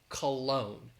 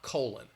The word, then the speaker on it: cologne: apostrophe s i smell like men's cologne not not colon um that's that's very different so cologne i can understand why people might make this mistake because the spelling is very different than the pronunciation but cologne would be